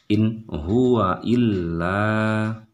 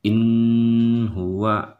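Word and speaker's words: إن هو إلا: Jadi bacanya in huwa illa, jadi jangan in huwa, itu salah.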